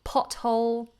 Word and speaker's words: pothole: River Thames in London we say pothole there's a pothole in the road although I would argue